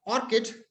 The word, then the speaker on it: ORCID: ऑर्चिड अगला है, ऑर्चिड और ऑर्किड, this is pronounced as ORCID also.